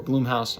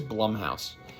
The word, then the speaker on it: Blumhouse: it was produced by blumhouse or bloomhouse i'm not sure how you say it honestly i've heard people say it either way but to me it is blumhouse so when i saw